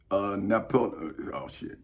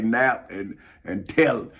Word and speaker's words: Naphtali: Naphtali. Naphtali. Because I bet you that H is silent. so I would say nap and tell. Hey, maybe I'm wrong.